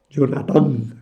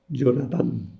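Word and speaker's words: Jonatán: josías Jonas jonathann etcétera Jonathan acabado con acento en la Jonathan es inglés el hebreo es jonathann bueno pues otra otra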